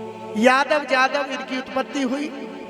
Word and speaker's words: यदु: यदु को यादव जादव जदु जो उच्चारण है, या का ही उच्चारण यदु है। या को हम जा शब्द पे बोलते हैं, लिखा जाता है यदु और उच्चारण है उसका जदु।